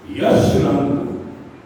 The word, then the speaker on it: जशरंग: और आज जो उत्सव है उस उत्सव का नाम है जसरंग राष्ट्रीय नाट्य महोत्सव। योग का वैदिक उच्चारण है ज। अब इसको पढ़िए, ज को य पढ़िए। यश रंग, यश का रंग कहाँ है?